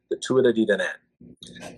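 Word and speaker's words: Tuatha Dé Danann: I asked a man from Ireland, who I had the opportunity to talk with for a few hours one day. I said, I spelled it out, and I go, "How do I pronounce this properly?" And he kind of smiled and he goes, "The Tuida di Danann."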